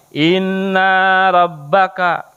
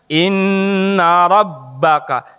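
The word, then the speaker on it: إِنَّ رَبَّكَ: Salah misalkan jadi begini contoh yang salah Inna rabbaka Sesungguhnya kami adalah Tuhanmu harusnya Inna robbaka sesungguhnya Tuhanmu beda ya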